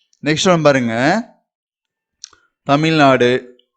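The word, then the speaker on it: तमिलनाडु: தமிழ்நாடு, தமிழ்நாடு. இது வந்து நம்ம ஹிந்தியில உச்சரிக்கும் போது த, த, இது மீ, மீ. நம்ம இதை வந்து குரில் அதுல உச்சரிக்கணும். மீ, ல, மேல ஒரு புள்ளி வைக்கிறோம். தமிழ், நா, நெடில உச்சரிக்கணும். நா.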